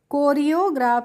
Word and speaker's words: choreograph: तो यहाँ पे हम CH का नहीं कर रहे हैं, तो हम इसको पढ़ेंगे कोरियोग्राफ। CO को क्या पढ़ेंगे, CO को हमने पढ़ लिया को। जब फ्रेंड्स बड़ी स्पेलिंग हो तो इसको हम तोड़ तोड़ के पढ़ेंगे। CO को हो गया, REO हो गया रियो, और GRAPH हो गया ग्राफ। तो इसको हमने पढ़ा है कोरियोग्राफ।